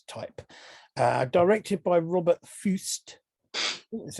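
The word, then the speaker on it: Fuest: The first film is from 1971, and it is The Abominable Dr Phibes, classic movie of its type, directed by Robert Fust. That's how you pronounce it.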